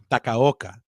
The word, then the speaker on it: Takaoka: I always say his last name wrong. Takaoka.